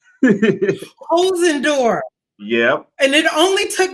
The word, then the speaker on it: Holzendorf: the K Patrice show hos andorf right there H and DF right hosen door yeah and it only